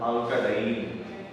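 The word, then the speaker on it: alkadiene: So here alka, this A should be pronounced alka diene.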